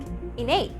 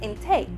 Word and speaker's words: intake: sound for example intake we won't say like innate no it's intake now let's move on